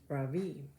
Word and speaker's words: Ravi: It's pronounced Ravi, but it's spelled like this. So can you think what a lot of Americans are going to say? Not Ravi, but Ravi. So my first name is pronounced Ravi with a soft Ra and a strong V. In Sanskrit, it means the sun. In America, people call me Ravi with a stress on the first syllable.